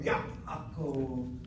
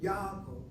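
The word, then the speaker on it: יעקב: Instead of Yaakov, Yaakov. You say Yaakov, the way you people speak Hebrew, sounds like this. It really does. The ayin is gone. You don't say the ayin at all.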